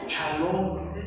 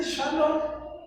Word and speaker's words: shalom: me hace absurdo eso no le dicen ni yeshua le dicen yesua chalón Entonces si no sabemos dijera alguien pronunciar para qué le hacemos el cuento no puede decir shalom diga rapaz de Dios